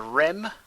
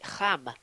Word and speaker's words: Reims: Rennes against a Rem. Is that sort of? Yeah, it's terrible. Kinda. I mean, it's one of those that if you say it properly, it makes you sound really pretentious. It's technically Ham.